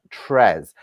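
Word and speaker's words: treize: it's pronounced correctly it's spelt t-r-e-i-z-e so it's pronounced tres now what number did uh robert want let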